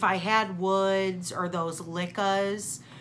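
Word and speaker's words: Lykke: If I had woods or those lickas, which for all of you who don't know, they are pronounced licka. I do know that for as bad as at pronunciations as I am, I do know that it's pronounced licka.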